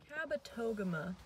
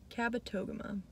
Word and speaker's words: Kabetogama: in voyageurs pretty exciting kabetogama that's how you say the lake of voyageurs kabetogama i know i was saying it wrong anyway um i'm here